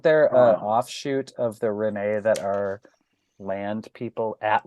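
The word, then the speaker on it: Rhennee: say Renee either yeah I say Renee because it's that's how you would say it in French it's not France I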